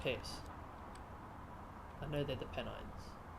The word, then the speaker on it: Pennines: Pennine, yeah, I know, I'm taking a piss. I know they're the Pennines.